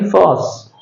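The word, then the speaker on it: force: सी ई इसको phonetic transcription में हम पढ़ेंगे फॉस। फस फस आर का उच्चारण है नहीं होगा।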